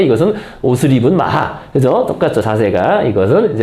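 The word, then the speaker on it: maja: 입은 이제 마 이게 여기는 마야라 돼 있는데이 발음이 마하가 맞습니다 마하 스페인어 발음이 그죠 마자 아니라 마하 마야도 아니고 마하 근데 근데이 마라는게 특별한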